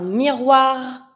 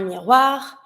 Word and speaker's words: miroir: une porte, un tapis, un miroir, and I pronounce my last R, un miroir, une horloge.